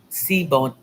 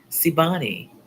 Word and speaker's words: Sibani: Siboni, Siboni, Sibani is how it's pronounced.